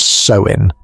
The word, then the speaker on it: Samhain: Tonight, I invite you to peer behind the cheerful mask of modern Halloween and see the face of Samhain, pronounced Samhain, the ancient Celtic festival that gave birth to our most beloved spooky holiday.